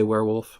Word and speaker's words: werewolf: werewolf, however you say werewolf? I've always said it werewolf. Like it's spelled W-A-R-E, even though it isn't.